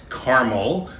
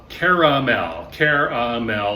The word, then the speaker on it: caramel: It's not Carmel. Carmel is a city in California or in Westchester County in New York. It is a mountain in the Middle East. Caramel, 3 syllables.